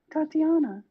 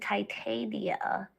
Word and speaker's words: Titania: you right after i i talked about the tatiana no i said titania but then you said i hate you what